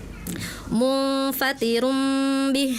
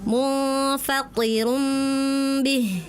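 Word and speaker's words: مُنفَطِرٌ بِهِ: Ta dan tho makhrajnya sama tapi sifatnya berbeda. Kalau tho sifatnya punya sifat istilah. Pangkalnya naikin ya Kak. Kalau ketika pangkal kita naik, maka otomatis suaranya akan menebal ya. Ti ya th ya. Tadi kakak seperti ti ya. Contohnya di surah almuzzamil ayat 18 tadi kakak bacanya munfatirum bih. Harusnya kurang naik naikin munfatir bih gitu ya.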